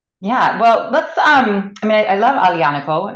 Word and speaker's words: Aglianico: I love Aglianico. I probably pronounce the G too often. Thank you for reminding me, Aglianico.